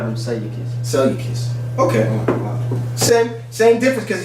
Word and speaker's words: Seleucus: This next heathen's name is Seleucus.